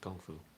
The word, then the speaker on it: kung fu: can have kung fu i notice that i've got a little bit of that g sound i try to be authentic when i know how to pronounce things not ka but it's more of a it's a slightly different sound than we have in english kung fu um you